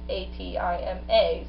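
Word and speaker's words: Atem: When it's spelled in hieroglyphics, there's a bird at the end of his name, and that bird translates to an A, so his name is A-T-I-M-A. So I feel it should be pronounced Atima, but he said Atim.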